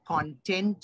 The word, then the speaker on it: content: The pronunciation error, C-O-N-T-E-N-T, has 2 pronunciations in the context of how you want to say it. If you are referring to just the matter of the speech, then it will be the content of the speech. It should be K. Pronunciation will be K, the content of the speech. But if you're happy when you listen to the speech, then you can say, I am content by listening to your speech.